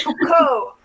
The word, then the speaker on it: Foucault: don't pronounce the T. It's Foucault.